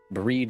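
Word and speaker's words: Bríd: if famish Irish saint it's pronounced with a long e similar to the English word breed I see so it's breed mq but the final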